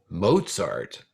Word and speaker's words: Mozart: it if you said mozart you got that correct it rhymes with pop tart kinda wolf gang amadeus